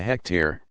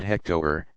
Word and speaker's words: hectare: Aries 2.47 one acres is a hectare not hecto her and 1 million ohms